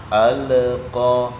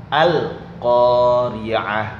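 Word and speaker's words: القارعة: Yang sering terjadi kesalahan itu ketika membaca al. Nah, kadang-kadang anak-anak itu membacanya alnya, lamnya tidak ditekan. Ya, baca santai. Al-qa sehingga terjadi tawallud. Ya. Ini enggak boleh. Makanya lam harus ditekan. Al-Qari'ah seperti itu.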